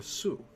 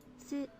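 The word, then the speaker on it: す: You pronounce this one as so. Or su. Su.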